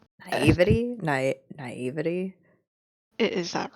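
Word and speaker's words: naïveté: Naivety? Naivety? Is that right? I don't know. Are you absolutely sure? I thought it was naivety. Naivete. Naivete. Hold on.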